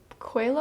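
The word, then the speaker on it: Coelho: the book The Alchemist by Paulo coilo I think is how you say his name amazing book I was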